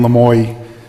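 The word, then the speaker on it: Lamoi: But my name, Lamoy, is always, butchered L-A-M-O-I and whatever, so the Lemois never really makes it through.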